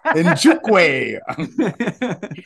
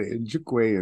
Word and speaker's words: Nzechukwu: I looked it up on Google, like how to say the name, and it said Nzechukwu, and then I heard a couple other guys, so I'm gonna go That with it. sounds right.